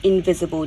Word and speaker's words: invisible: So remember, it's a schwa sound, but spelt with an I.